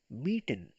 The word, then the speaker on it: mieten: Gemietet kommt aus mieten, pronounce it me, mieten। Meeting. Mieten means to rent out something, कोई चीज किराए पर लेना।